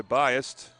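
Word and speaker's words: Byest: Rebounded by Biased. It's spelled B-Y-E-S-T. It's not B-I-A-S-E-D, like a lot of us are biased, but she is biased.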